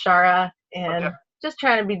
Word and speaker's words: ShaR4: So I know it can seem confusing, but it is just pronounced Shara, and just trying to be different.